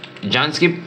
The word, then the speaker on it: Jnske: Jansky, mas parang bigkas sa pangalan niya, di ba?